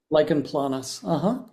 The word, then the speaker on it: lichen planus: She had can you pronounce it for me? Lichen planus? Lichen planus.